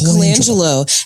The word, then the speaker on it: Colangelo: It's Colangelo. And it's written phonetically in front of me, BJ. Patrick, it is pronounced like it's spelled.